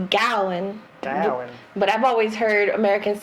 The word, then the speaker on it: Gawain: poem about what they they call it is pronounced gallon but i've always heard americans say gawain and they're still here we're illiterate but they